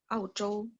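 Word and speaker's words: 澳洲: Eropa sebenarnya gini. Dari spellingan pinyinya juga beda kok. Ozhou itu Eropa. Ozhou, Ozhou itu benua Eropa. Kalau benua Australia, Auzhou, sebentar ya. Auzhou, benua Australia.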